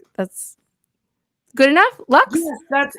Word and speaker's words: Laux: like that's good enough lux that's it's absolutely right i mean it is french name how do you say it we say my family says locks oh locks okay good